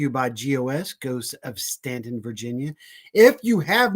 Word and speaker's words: Staunton: Go to the Shenandoah Valley and go to Stanton, Virginia. It is spelled Staunton. Don't say Staunton when you go into town. They'll know you're not from here.